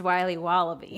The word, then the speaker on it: Wiley Wallaby: It's pronounced Wiley Wallaby.